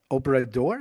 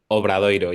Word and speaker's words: Obradoiro: Then after 2 years at Obrador, is that how you say it? The Spanish O- team? Obradoiro, yeah.